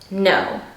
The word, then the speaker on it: Ngo: 3 N's, and then there's a G in the no part. The G is silent.